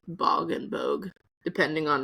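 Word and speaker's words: Bogge: So I call it the bog and I call it the bog. It is pronounced like bogey. I guess actually they mix it like bog and bogue depending on how I'm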